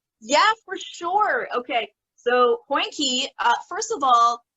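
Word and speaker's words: hondjie: for sure okay so poinky uh first of all poinky is spelled h-o-n-d-j-i-e it simply means puppy in afrikaans so small dog um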